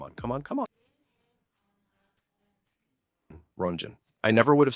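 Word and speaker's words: Röntgen: The person who discovered X-rays was a German physicist named Wilhelm Conrad Hodkin. Do you say it like that? Let's check how it's pronounced in German. Come on. Come on. Come on. Runen.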